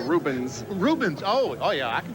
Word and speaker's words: Rubens: Are you going to be able to pronounce Rubens Barrichello if he comes over here to race? Ruben who? No, Rubens.